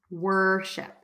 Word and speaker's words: worship: do you pronounce worship think about it as were like the Nay word were and then ship worship okay worship worship worship